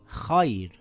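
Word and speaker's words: خير: And here it reads khair with a light Ra.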